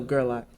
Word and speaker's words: Gerlach: No, Gerlach.